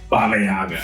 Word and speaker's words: Baba Yaga: of John Wick before he was Baba Yaga Baba Yaga right that's how you say it I was